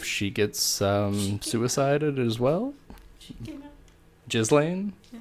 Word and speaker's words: Ghislaine: gets suicided as well Jasleen her name's basically pronounced that way I'll show you kids